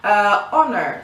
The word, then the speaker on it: honor: of a tower okay honor same thing honor spells with a H but we don't pronounce the H because it's silent it's mute so use an honor